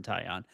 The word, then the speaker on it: Taillon: know how to say his last name, Taillon. Taillon. Jameson Taillon uh will be starting tomorrow. That is when we asked Judson who he expects to start tomorrow, he said probably Jameson Taillon.